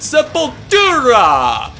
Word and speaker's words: Sepultura: And if you watch interviews with the band, of course they're Brazilian, they're gonna say it with the accent, Sepultura!